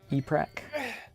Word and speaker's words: E-Prac: E-Prac. Oh, you back. Yeah, mine My was... brain forgot how you tend to pronounce their name, so I said Epric for some reason. There's no I in there.